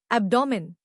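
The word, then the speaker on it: abdomen: एब्डोमेन नया लफ्ज एब्डोमेन। इसको तोड़ते हैं। अब जोर अप पर है।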